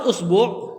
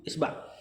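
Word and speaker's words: إصبع: Nah, lafaz usbu' jari bisa dibaca 10 cara baca. Usbu, asba, bukan 10, 7. Usbu, asba, usbu, usba, usbi. Kemudian benar 10. Asba, asbi, asbu. Kemudian isba, yang sering dipakai itu isba. Isbi sama isbu, sama satu lagi usbu ada wawnya.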